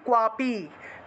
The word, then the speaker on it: ক্বাপি: পাটবম তস্য ভয়ম ভয়ম ক্বাপি, কয়ের নিচে বফলা থাকলে কুয়া উচ্চারণ হয়, ঠিক আছে। তাহলে ভয়ম ক্বাপি ন জায়তে, ভয়ম ক্বাপি ন জায়তে, ক্বাপি একসাথে উচ্চারণ হবে, ভয়ম ক্বাপি ন জায়তে নাপম মৃত্যু, নাপম মৃত্যু, ঠিক আছে।